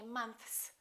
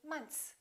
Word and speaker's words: months: americans don't really say months they kind of eliminate the th and they just say months one month two months